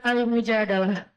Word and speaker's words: Al-Mujadalah: Jadi tergantung kita bacanya bilah atau dalah. Kalau kita baca Mujadilah, berarti perempuan yang lagi curhat. Kalau kita baca Al-Mujadalah, berarti curhat itu sendiri.